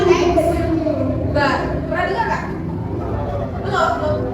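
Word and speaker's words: x̄: kalau dalam matematika ee seperti x ada topik di atas itu bacanya x bar.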